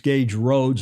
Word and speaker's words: Gage Roads: And Alistister corrects us and says it's Gage Roads.